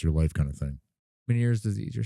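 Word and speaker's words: Ménière's: Meniere's disease, you're saying? Yeah. Okay. That's how you pronounce it.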